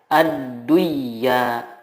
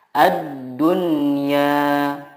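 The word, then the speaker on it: الدنيا: Contohnya ad-dunya, tidak dibaca ad-duya, tetapi yang benar adalah ad-dunya.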